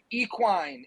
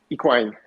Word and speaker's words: Equine: So the word I know in America, people say equine instead of equine. So people are probably going to mispronounce it throughout the whole life of the product.